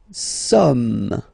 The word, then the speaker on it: sommes: Nous sommes, okay? Nous sommes, okay? So you don't pronounce the final S here. It doesn't exist.